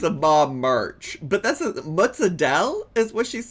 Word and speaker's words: mozzarella: as with the typical Italian pronunciation, the name mozzarella, mozzarella. You do want to insist on the double letters, the double Z or double Z and the double L.